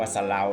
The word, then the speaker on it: เสลา: ต้น เสลา นะ ครับ ไม่ ใช่ ต้น เศ รา นะ ครับ อ่าน ว่า สะ เรา นะ ครับ เปลือก ลำ ต้น สี